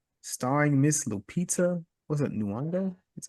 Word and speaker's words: Nyong'o: What's it, Nyong'o?